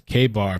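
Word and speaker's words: Ka-Bar: Says the night is K-Bar, pronounced like Kmart.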